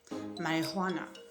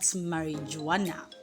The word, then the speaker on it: marijuana: Marijuana. So you don't say marijuana. How do you say that word, by the way? Do you say marijuana? Okay, that word is pronounced as marijuana and not marijuana.